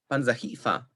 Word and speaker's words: panzahifa: In 8a, panzahifa, we see that the stress falls on the syllable which immediately precedes the predicate domain.